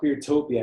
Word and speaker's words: Cuirtopia: Yeah, if they want to follow my project, it's called Queertopia. It's spelled Cuirtopia.